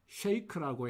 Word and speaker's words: shake: shake. 이거를 흔히들 우리 shake라고 해서 중모음을 넣어서 발음하는데 여기 sh 발음 뒤에 ache라는 모음만 붙이면 되겠습니다. shake. 다음 시카고.